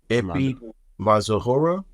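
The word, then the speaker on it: Ippei Mizuhara: Ippei Mazuhora.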